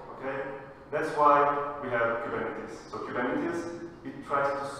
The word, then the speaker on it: Kubernetes: It's true, because it's a Greek word, and I'm originally from Cyprus, where Greek is one of the languages. And the right way of saying Kubernetes is Kubernetes, right?